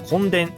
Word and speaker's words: 墾田: を壊疽した田んぼと書いて根田と言いますしかし本殿は異界に